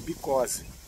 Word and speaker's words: because: É, inclusive, para você saber a pronúncia, tem uma coisa legal, é because é inflamação no bico, because. Né? Então, ajuda a ficar próximo da pronúncia correta.